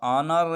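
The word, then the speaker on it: honour: से पहले H आया है तो इसलिए H साइलेंट है। आवर है, इसी तरह ऑनर है और इसी तरह ऑनेस्ट है और इसी तरह 10 है।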